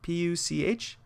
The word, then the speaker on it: Puch: I think it's a Puch, P-U-C-H. Puch, I think is how you pronounce it, the style of bike.